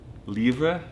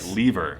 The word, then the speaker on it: livre: livre is how I say it in French. AZREN: Yeah. Livre. You got a nice French 'R' in the back. KYE: I know it's like, yeah. I could be very Anglican right now and be, like, "leever."